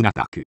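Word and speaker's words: ナタク: ナタクと書いて、ナタではなく、ナタクと呼ばれ、中国の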